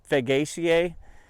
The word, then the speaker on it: Fagaceae: The chestnuts are a member of the beech family, Fagaceae. That's how I pronounce it.